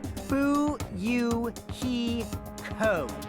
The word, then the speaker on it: Fuyuhiko: last name is my first name is pronounced fu you he code i'm still an experienced